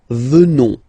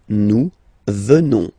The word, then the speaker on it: venons: Final S not pronounced, so you will get the sound venons. Nous venons.